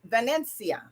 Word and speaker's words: Vanencia: name is italian if if you pronounce it properly it's vanencia my middle name is